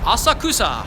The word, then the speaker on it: Asakusa: this the train line says it next stop asakusa Asakusa that's the way that the trainer announces itself then what about your pronunciation don't worry about breaking social norms here